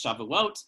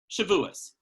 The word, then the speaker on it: Shavuot: And so if you're looking at the modern Hebrew pronunciation, it's Shavuot. If you want to stick with the traditional older Ashkenazic Hebrew pronunciation, it's Shavuos.